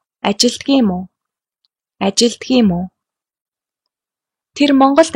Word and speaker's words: ажилладаг юм уу: In spoken Mongolian, we tend to contract words. For example, ажилладаг юм уу becomes ажилдаг юм уу?